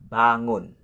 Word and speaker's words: bangun: The next, which is number 4, the word bangun. Bangun. Ba is the first syllable and the second syllable is the ngun. Ngun with ng sound and then close with the n sound. Ngun. Bangun.